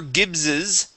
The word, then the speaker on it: Gibbs's: to be when farmer gibbs's okay so gibbs's Dairy herd would pay us a visit so we have the apostrophe S at the end gibbs's when farmer gibbs's